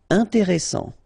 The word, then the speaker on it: intéressant: Intéressant, double S, same thing here, S, strong, and it opens the pronunciation of your E, intéressant, final T not pronounced.